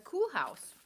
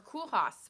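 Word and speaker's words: Koolhaas: oh my gosh and that one is the cool house or cool house by um Jared flood it's this pattern's been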